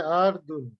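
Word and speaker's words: عَرْض: হ্যাঁ হ্যাঁ, এটার উচ্চারণ হবে আরদুন, মানে আইন শক্ত করে বলতে হবে।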